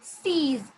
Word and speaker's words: six: 6 is six. It is written the same way like the English one 6, but it's not pronounced the same way. It's six.